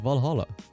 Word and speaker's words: VA-11 HALL-A: at kiramiki's blog valhalla the name sounds silly and but hard to pronounce good thing it's actually called valhalla the funny numbers and letters are just a code anyway i visited this